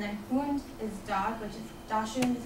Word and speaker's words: dachshund: is badger and then wound is dog which dashing is how you say it in German um